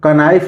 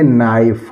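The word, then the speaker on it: knife: है यह क्या पढ़ेंगे कहीं कहीं के साइलेंट भी होता है इसको हम क नाइफ नहीं पढ़ेंगे इसको पढ़ेंगे नाइफ क्या पढ़ेंगे नाइफ तो इस तरह हम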